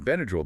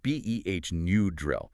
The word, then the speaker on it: Benadryl: But in Benadryl, the Y represents a short I sound, like in drill, so it's B-E-H, new drill.